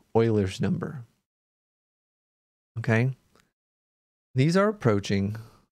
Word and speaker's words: Euler: something and this number they're approaching is called euler's number okay these are approaching something called euler's number as it is pronounced euler not eubler it's euler's number and